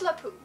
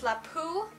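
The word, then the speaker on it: LeFou: to murder more recent like and then there's lipu the food okay I always thought it was lapu but apparently fluff ooh which is fine i've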